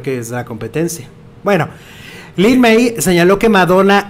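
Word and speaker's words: Lyn May: ¿Cómo se pronuncia? Lin-May.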